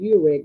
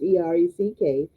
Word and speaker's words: Erech: And the beginning of his kingdom was Babel and Erech, and some the pronunciation in one of the encyclopedias is Urek, but it's Ereck, and Akkad, Accad, and Cain and Calneh, Calneh, in the land of Shinar, and some say Shinar.